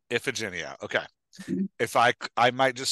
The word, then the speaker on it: Iphigenia: Well, there's a lot of ways to say her name. I say Iphigenia. Iphigenia.